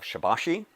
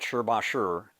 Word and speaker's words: Shibashi: point of view when when it comes to the pronunciation it's our understanding that sh Basher is actually sh Basher actually uh is the more appropriate pronunciation but everybody seems to lean into shibashi so that's the one that we go with as well regardless there are eight